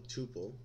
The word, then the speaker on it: tuple: A record, also called a tuple or couple, I've never heard it rhyming with couple, is a set of